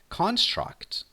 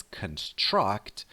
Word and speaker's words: construct: Okay, let's talk about the noun construct. You are familiar with the verb, which is pronounced differently, by the way. The verb is construct, and that word means to make or build something.